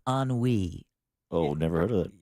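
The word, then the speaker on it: ennui: weed is an emotion this is e n n UI and it's pronounced an we oh never heard of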